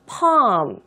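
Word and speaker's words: palm: 어 좋을 것 같습니다 손바닥은 영어를 하고 마다 발음이 어렵습니다 펌 팜 이렇게 바로 있어요 좀 부드럽게 팜 이렇게 발라주시면 됩니다 바로 손바닥이 없구요 제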